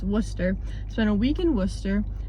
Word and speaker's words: Worcester: 1 week in Worcester, which is actually Worcester, not Worcester, so I've been saying it wrong my entire life. It's Worcester.